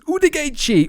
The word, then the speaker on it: Woodgate: And so he would be screaming at the top of his lungs, "Udegate, Udegate, Udegate." That's basically how you say Woodgate, but with how the Brazilians pronounce the letters.